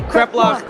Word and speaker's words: kreplach: Okay, kreplach. You have to say it like that. You have to say kreplach. He has the accent down.